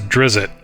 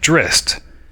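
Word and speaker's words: Drizzt: some people pronounce it drist though I think Salvatore the author that created the character in interviews actually pronounces it dritz d r i TS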